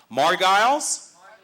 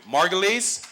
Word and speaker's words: Marguilies: further ado let's bring up the lovely morgyles thank you margulis excuse me for the mispronouncing pronunciation mrs and margulies hello ma'am